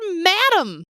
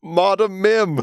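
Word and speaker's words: Madam Mim: Who just know how to pronounce the word madam? Yeah. Hello? Modem Mim.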